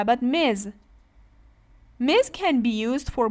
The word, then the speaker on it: Ms: Miss is used for single woman how about Miz Miz can be used for both single and